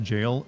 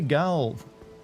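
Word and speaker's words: Gaol: it definitely is bat Tower settlement gal is pronounced jail U but I want to I want to say gal it's it's funner to say it that way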